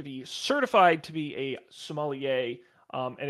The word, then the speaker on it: sommelier: uh today's up for debate we're gonna be sommelier is that how you pronounce it yes ma'am are you familiar with